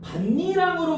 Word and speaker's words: 밭이랑: 자, 니은 반니랑으로 발음해야 돼. 자, 별표 쳐 놓으세요.